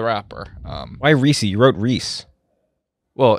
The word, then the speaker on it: Reese: You wrote Reese. Well, it was spelled R-E-E-S-E, but it's pronounced like the wrong people pronounce Reese's?